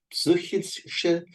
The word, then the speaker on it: psychische: First, remember that the Y here is pronounced like a soft U with umlaut, so Ü. Yes, that's your tongue forward to say psy. And then you have to open your mouth after it. Psychische.